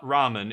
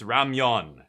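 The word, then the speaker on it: 라면: over there so it's in Korea it's Ramon it's not Ramen it's Ramon and if you pronounce it the other way people will correct you and it's like oh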